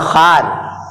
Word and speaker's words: خوار: معنی ہوتا ہے ذلیل، یہ واو پڑھا نہیں جائے گا۔ کچھ الفاظ